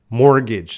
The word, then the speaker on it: mortgage: Mortgage. So again, we're focusing on pronunciation.